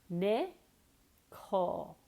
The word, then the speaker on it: nickel: we have nickel nickel Nick coal see where my tongue is may call almost like K ull Nick coal know if